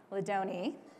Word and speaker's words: Ladanyi: not least we have ladanyi I did it right yes it rhymes with Bologna for anyone he needs